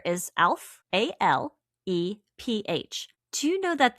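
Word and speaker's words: Aleph: The correspondences, the Hebrew letter is Alph, A-L-E-P-H. Do you know that this is a silent letter?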